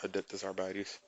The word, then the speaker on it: Adeptus Arbites: Adeptus Abartes, I think is how you pronounce it. Yep, Adeptus Arbites.